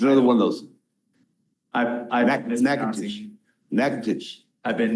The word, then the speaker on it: Natchitoches: I've Natchitoches. I've been mispronouncing I county. know, Natchitoches.